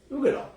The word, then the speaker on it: Uigeadail: Yeah, you got to help me with the pronunciation. The Ardbeg Uigeadail. Uigeadail.